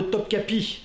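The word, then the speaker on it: Topkapı: des sultans ottomans non puisqu'on parle de topkapi notre cap c'est comme ça que ça se prononce le grand palais des sultans sachez que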